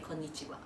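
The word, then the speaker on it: こんにちは: So, like, when you say hello, you say konnichiwa, right?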